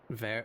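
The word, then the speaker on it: vert: So, just remember in French you'd never pronounce the final letter. So, if in in feminine it's ver in masculine it's ver.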